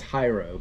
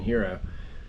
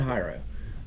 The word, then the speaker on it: Hyro: shows was called hero it's spelled hyro but because it's tight roping and high tight roping and high diving so I think it's hyro but everybody kept saying hero I call it hyro uh it was so